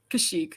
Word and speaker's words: Kashyyyk: Kashyyyk, not Kakshik.